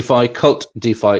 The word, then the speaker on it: KvltDeFi: um uh kvlt D cult defi it's pronounced cult as in like cult as in HEX is